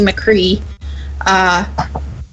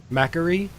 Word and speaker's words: McCree: I'm going with the lagging balls pronunciation of Macri, just because then you can say like macaroni. Yeah, but it's like the last name like McDonald or McDonald. People say it both ways.